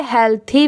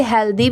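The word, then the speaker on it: healthy: एल टी एच वाई इसे हेल्थी भी बहुत सारे लोग पढ़ते हैं बट अगर आप इसे हेल्दी भी पढ़ेंगे तो वो भी रॉन्ग नहीं होगा। यह भी करेक्ट ही प्रोनंसिएशन है।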